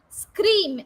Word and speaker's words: scream: Can you find that E sound before all these words? No, right? But people pronounce it as scream, school, scan. No, it is wrong.